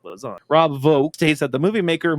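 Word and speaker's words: Vaux: The X is silent. Vogue is silent. Silence. It's like lasagna. You don't pronounce the J lasagna. Real G's movement silence like lasagna. Rob Vogue states that the movie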